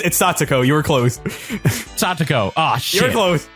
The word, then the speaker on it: Satoko: Satoko.